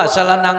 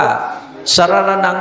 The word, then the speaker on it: สะระณัง: ก อ น อ เพิ่น ว่า สะระณัง คัจฉามิ ของ เฮา ไป ว่า สะระนัง คัจฉามิ มัน บ่ ถูก ู นี่ นะ คือ